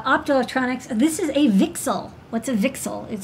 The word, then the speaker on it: VCSEL: so you know like we call it vixel that's apparently how it's pronounced it's a vertical cavity